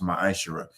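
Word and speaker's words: מעשר: You can find this in numbers 18 and 21 and Malachi 3:8-10 means 10th in Hebrew and is pronounced maisher.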